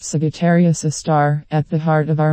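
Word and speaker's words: Sagittarius A*: The telescope array also monitored a dim source of radio noise called Sagittarius A, pronounced Sagittarius A star, at the heart of our Milky Way galaxy.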